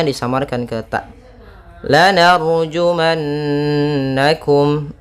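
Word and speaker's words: لَنَرْجُمَنَّكُمْ: lanarjumannakum. Ra tebal yaitu didahului fathah. Jumannakum. Nah, di sini ada nun bertasydid yaitu bacaan gunnah.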